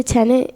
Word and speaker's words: tenet: But I didn't say tenant, I said tenet. tenet.